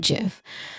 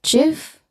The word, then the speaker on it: GIF: I don't know GIF only GIF. It it can be a GIF.